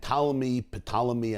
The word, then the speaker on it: Ptolemy: Talmi was an Egyptian king from the Greek dynasty, and Ptolemy, as they call him, spelled with a P, compelled and invited 72